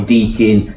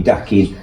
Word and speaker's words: Dakin: My name's Dakin, and people call me Deakin, they call me Dakin, and it drives me nutty.